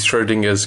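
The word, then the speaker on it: Schrödinger: Starts as the girl in Twilight garb, with Schrodinger's cat. It is supposed to have a dinger on the end.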